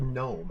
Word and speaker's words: gnome: the previous one is the word gnome has a silent g at the start of it and so every instance